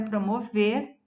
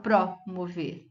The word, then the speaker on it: promover: A sílaba forte é sei. Aqui, 10 dicas para promover o engajamento da sua empresa. Eu não falo promover, e sim promover.